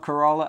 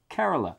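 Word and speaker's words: Kerala: the latest one is Cara not corala as I say many times through the videos carala is apparently how it's pronounced I should have looked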